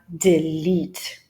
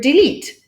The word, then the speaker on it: delete: What might come as a surprise for them is the way you pronounce the word delete. For example, many Polish students constantly say delete, because you have the